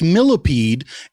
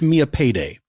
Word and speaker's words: Millipede: A lot of people a lot of people think it's pronounced millipede and I guess that's because it's how it's spelled, but it's pronounced Mia Payday.